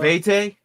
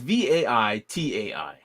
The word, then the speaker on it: Vaitai: It's not Vete. It's Vaitai.